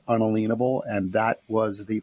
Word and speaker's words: unalienable: means and why it matters that word is pronounced unalienable and that was the pronunciation is known by